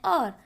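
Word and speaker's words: hour: यहाँ पर एन क्यों आया है क्योंकि जब हम और बोलते हैं तब एच साइलेंट होता है जिसकी वजह से वॉवेल साउंड आता है और जब भी वॉवेल साउंड आता है तब आर्टिकल एन लगता है.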